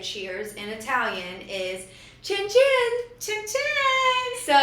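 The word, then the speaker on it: cin cin: and you go chin chin. And then there you go. So, we did that all night, every night. It's C I N C I N, but pronounced Chen Chen. Chen Chen.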